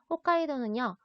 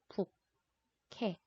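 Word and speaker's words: 北海道: 홋카이도는요, 우리가 한국말로는 북해, 도라고 읽는데요.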